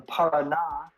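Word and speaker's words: Paraná: Spanish country um the Parada River we should have an accent on the last a um is very famous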